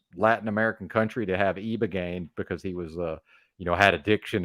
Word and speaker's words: Ibogaine: It's spelled with an I, but I've heard E, but who knows?